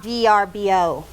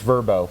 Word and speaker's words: VRBO: worked out great uh so it's not vrbo it's verbo they it's turbo verbo yeah you spell it that way but that's how they pronounce it i mean i just